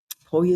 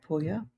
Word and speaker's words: Puglia: No, I No, I like Puglia. You have to say it like that. You You've got to say it when you say Puglia, you've got to say Puglia. It's important.